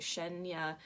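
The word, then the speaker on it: Cheyna: name is Shen yeah she spelled ch ey na but I believe you pronounce it Shen ya Grace palette so this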